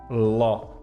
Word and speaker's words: law: a lei senhor Ó a pronúncia aqui de Law né é como se fosse um o esse AW aqui ló sabe um outro lugar onde que esse AW fica com o mesmo som de o na palavra incrível em inglês não sem ser Incredible aquela outra assim olha awesome Então esse AW aqui tem a mesma pronúncia de o então awesome e LW L além